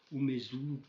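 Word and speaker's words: 梅図: Donc, le maître Kazuo, il s'agit de Umezu Kazuo. Umez, on le voit aussi souvent, hein, parce que le U, est prononcé comme un sifflement Umezu. Donc, on en fait l'élision, comme on dit, Umez.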